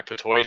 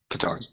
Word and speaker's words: petard: My Patoy has been hoisted. All right. Is that how you pronounce that? Petard.